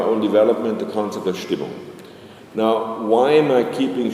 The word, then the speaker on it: Stimmung: So that's why I'm cultivating the German word here, and it's also easy to pronounce. It's just not Stimmung, but Stimmung.